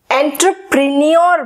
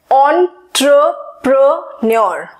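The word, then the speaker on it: entrepreneur: मेरे majority students इसको एंटरप्रेन्योर बोलते हैं, लेकिन इसकी एक्चुअल प्रोनाउंसिएशन है एंटरप्रेन्योर.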